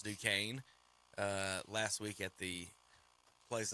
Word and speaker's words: Duquesne: He's like, "It's Duquesne."